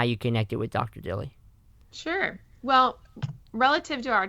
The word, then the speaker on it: Dilley: Stephen dilly is how you pronounce Tilly and Annie Crawford and dr.